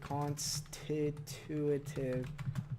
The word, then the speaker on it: constitutive: constit constitutive laws. Inductor constitutive. Let's see what this word is. What? Constituive. Constitutive. Constitutive. Yeah, that's that'd be how you say it.